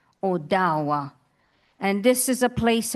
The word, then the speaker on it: Odawa: And Ottawa Owa, that is how you say Ottawa. Odawa.